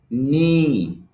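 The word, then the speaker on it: knee: এজন্য এখানে খে এর উচ্চারণ হবে না।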